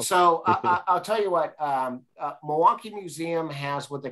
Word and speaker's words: Milwaukie: I just want to point out, you know you're from Milwaukie if you say Milwaukie in two syllables. Milwaukie.